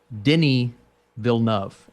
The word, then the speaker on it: Denis Villeneuve: Moving on here, I want to say that with the new Dune from director Denis Villeneuve, help me out here, Austin. Dude, listen to this. It's Denis Villeneuve, and it took me 2 years to figure that out.